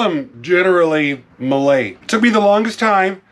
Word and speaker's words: Mallet: Malay maybe I don't I know I got the last part right cuz Google told me how to say it Malay it's derived from the frenchspeaking Swiss but Malay are articulated